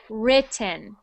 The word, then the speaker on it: written: So that is not E, that is an I sound. So written.